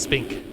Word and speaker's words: Spink: And thank you, MXKid823, for letting me know it's pronounced Spink, because I seriously did not know that.